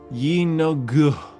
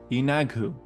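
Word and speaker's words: Yeenoghu: Our final demon lord is number 16, Yogu. My I definitely butcher that. Hold on. Hold on. Yagu. There it is. Number 16 is Yinagu, the beast of butchery.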